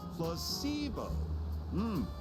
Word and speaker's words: placebo: today repeat after me placeo the stress is on the middle Sy you for telling